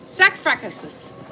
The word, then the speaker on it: sarcophagus: Sarcophagus.